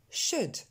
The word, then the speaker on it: should: Should.